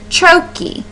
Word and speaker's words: trochaic: by an unstressed syllable chokey is how you say that and that's how the emphasis would be too um whether as whereas